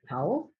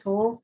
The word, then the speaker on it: Towle: Look at it, and it was towel. Is that how you pronounce it? Toll? Toll. Spell that Towle. Yeah, Okay, right. Uh-huh. it's toll. All right.